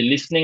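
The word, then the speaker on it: listening: negative নেগেটিং music music to music are ইউ লিসেন to music okay good একটা বাদ গেছে আর music এটা বাদ গেছে এইযে লিসনিং এর ইয়াটা শুনিয়েন আমরা লিসেনিং বলি এটা উচ্চারণটা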